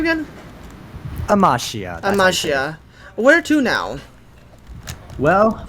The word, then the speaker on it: Amachiya: So, Amichia or how do you say your name again? Amashia.